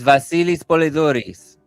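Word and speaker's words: Βασίλης Πολεδούρης: You're gonna say it in Greek. It's Vasilis Polyoris.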